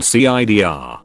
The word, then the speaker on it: CIDR: this design works with subnetting and is called cidr classless inter domain routing which is pronounced c idea as in the drink the